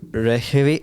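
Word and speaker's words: Reykjavík: I was in Reykjavik, that's how they pronounce it, in Iceland, not the supermarket.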